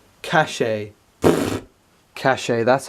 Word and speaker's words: cache: it's all about the cash yet he was pronouncing it caches like dude it's pronounced cash and he was like no and he's just really adamant that was pronounced the cachet is what a great